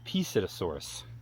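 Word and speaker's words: Psittacosaurus: This is the Psittasaurus, spelled with a P, Psittasaurus.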